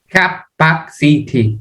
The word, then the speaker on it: capacity: you say that Donnie capacity capacity capacity that's right but it's not City it sounds like an a capacity capacity capacity capacity the